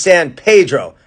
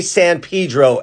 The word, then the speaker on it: San Pedro: dodgers pedro guerrero now people tell you that the proper spanish pronunciation which is correct is san pedro however natives will say san pedro and with good reason